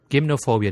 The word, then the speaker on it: gymnophobia: going to focus on gymnophobia or gimnophobia depending on whether you want to put the uh uh Greek or English pronunciation behind the word.